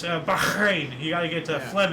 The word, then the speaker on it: Bahrain: Baharrain proclaimed independence after 110 years of British rule. Awesome. Uh actually I mispronounced her name. It's Bahrain.